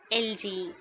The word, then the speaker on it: elegy: G is while you write. When we pronounce, we must have the J sound.